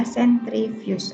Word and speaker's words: sentrifugasi: Walaupun tulisannya sentrifugasi, pembacanya adalah sentrifuge atau dipusingkan, ya, diputar dengan kecepatan yang tinggi.